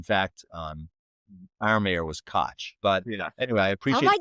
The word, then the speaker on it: Koch: is, you know, good right-wing activists, KOC is pronounced Koch, but in fact, um, our mayor was cotch.